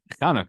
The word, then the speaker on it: Chanukah: Don't know where the H came from, but in the Hebrew it's with the Chetz, so it's the Chanukah. Regardless, as long however you pronounce it, Chanukah.